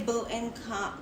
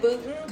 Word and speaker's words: Boonton: I was gonna say Boonton Coffee. What's wrong with that? Say it. So good. There's Say a lot that. of places. Like we go. I like to try a lot of places to Boonton see Coffee?